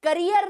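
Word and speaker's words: carrier: कैरियर मतलब वो वाला करियर नहीं, कैरियर और करियर अलग है, प्रोनाउंसिएशन पे ध्यान दो। कैरियर, करियर, स्पेलिंग भी अलग है, प्रोनाउंसिएशन भी अलग।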